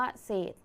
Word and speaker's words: เศษ: ไหม คะ ดัง นั้น คำ ว่า เศษ จึง อยู่ ใน มาตรา แม่ กด นั่น เอง นะ คะ เรา มา